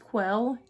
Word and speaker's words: QUEWEL: this brand right there i believe it's pronounced quill q-u-e-w-e-l and i will be